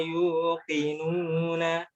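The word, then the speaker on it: يوقنون: Coba yang Q-nya lebih dikuatkan sekali lagi. Yuqinu. Wa kanu bi ayatina yuqinuna.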